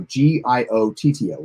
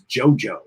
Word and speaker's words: Giotto: was weird because like shatner pronounced his name or at least the way i heard it he pronounced it like three or four different times i actually thought at what time at one time it was jojo like mojo jojo um so they have